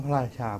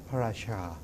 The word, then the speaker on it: พระราชา: มัน ไม่ ชัด อื เด็ก ไม่ ควร จะ ออก เสียง ช ช้าง เป็น เสียง CH เหมือน ภาษา อังกฤษ ภาษา ไทย ช้าง คำ ว่า พระ ราชา ก็ พระ ราชา ไม่ ใช่ พระ ราชา พระ ราชา หือ คำ